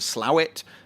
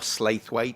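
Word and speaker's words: Slaithwaite: Marsden and then you go on to slaw it or slateway to some people pronounce it and then on to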